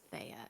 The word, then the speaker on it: Thea: I believe it's pronounced Thea, actually. Thea?